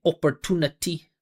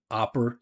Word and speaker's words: opportunity: So, she's saying opportunity. Opportunity instead of opper- You hear the difference between o and ah? opportunity opportunity and that way it's a lot lot more obvious which parts are stressed.